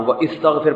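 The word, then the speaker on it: وَاسْتَغْفِرْ: ना व मैंने बताया ये अलिफ जब कहीं दरमियान में आएगा ना तो साइलेंट हो जाता है ये ताकि आसान हो वस्तफिर पढ़ना मुश्किल है तो पढ़ते क्या है वस्तफिर लिखा जाता है पढ़ा नहीं जाएगा वस्तफिर हु का माना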